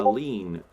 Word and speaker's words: lien: So A lien? a lien, or a lien, if you want to use the more posh pronunciation.